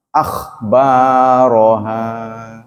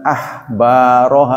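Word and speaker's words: أخبارها: Akhbaroha, bukan ahbaroha, bukan, itu beda titik.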